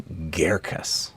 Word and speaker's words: Girkas: Pronunciation note: it's actually Girkas. Girkas. Imagine the word hair, Girkas. and then a g, hairkas.